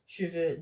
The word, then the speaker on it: cheveux: So this one is like cheveux. The silent E, the first E here is that silent E that we don't open our mouths to say.